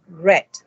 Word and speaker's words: read: Except for the word read, the pronunciation is different, read.